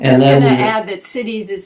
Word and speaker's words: siddhi: I'm just going to add that cities is spelled S-I-D-D-I, not C-I-T-I-E-S.